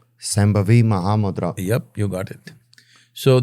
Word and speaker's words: Shambhavi Mahamudra: It comes with a final day of teaching a very powerful process that's called, difficult for you to pronounce, Shambhavi Mahamudra. Shambhavi Mahamudra.